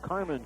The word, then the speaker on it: Carmine: It's spelled Carmine, but they tell us it is Carmen Capuccio, and the freshman has had a quiet night.